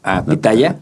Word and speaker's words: pitahaya: Ahí hay una cosa de la pronunciación, porque depende de dónde estén del país. Si tú estás en el norte, ¿no? Como Sinaloa, saludos a todos mis primos sinaloenses. Pitaya, allá se le dice a la biznaga.